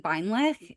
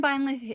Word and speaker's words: Beinlich: So this is Suzanne Beinlich. If you, and I would say her name with the German pronunciation because it just is German and should be pronounced with the instead of a k.